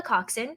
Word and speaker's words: coxswain: I was in is called a coxswain. Okay. It's spelled COXSWAIN. Sure. And I know, right? It doesn't sound like that's how it'd be No, spelled. not at all. That's how it's spelled.